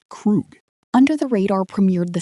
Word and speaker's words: Krug: dropped on the 15th via his own label, pronounced Krug.